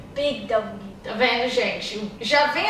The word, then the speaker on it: Big W: Big W. Tá vendo, gente? Já vem a palavra big, que brasileiro adora falar big, né? Não é big, é big. Big. Big. G, g, g, g, g, certo?